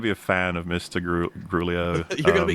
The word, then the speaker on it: Gramuglia: This is Gramuglia.